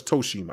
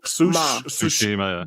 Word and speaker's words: Tsushima: And what is it, Tsushima or is Toshima? I say Toshima. Toshima. Okay, Tsushima. So you're wrong. It's like sushi. Tsushima.